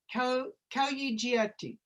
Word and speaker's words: Aqqiumavvik: because I want to make sure that I pronounce it with care. Is it the Aqqiumavvik Health Research Center? Aqqiumavvik.